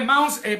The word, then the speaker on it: Mounce: Se escribe Mounce, para el que no sabe inglés, se escribe Mounce, con C. M-O-U-N-C-E. Mounce. Se pronuncia en inglés.